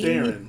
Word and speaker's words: Theron: We're also joined by Carson Kressley and our special guest judge, Charlize Theron. No, I'm sorry, Theron. Theron. Charlize Theron. Now, I've always heard people pronounce it Theron.